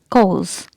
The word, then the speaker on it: cause: Here letter R and P are silent, so you'll not pronounce it like corpse or corpse. It is cause. Cause. If S is not there, then you'll pronounce it like co. If S is there, then you'll pronounce it like cause. But letter R and P are silent here in British English.